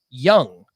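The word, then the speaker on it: Jung: out big pronunciation weekend josh young not junk josh young top prospect for the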